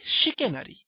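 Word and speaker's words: chicanery: এটাও প্রতারণা করা এরপরে শিকেনারি দেখো ইংরেজিতে চিকেনের মত শুনতে একটা শব্দ বানানটা চিকেনের মত সি এইচআই উচ্চারণটা শিখেনারি সেটা হচ্ছে প্রতারণা করা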